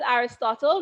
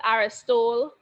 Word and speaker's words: Aristotle: Looking at Aristotle, not Aristole. It's not English, so it's pronounced differently.